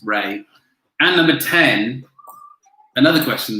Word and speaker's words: Rea: 6 was which major UK city was founded in the 7th century on the River Ray, spelled R-E-A, pronounced Ray.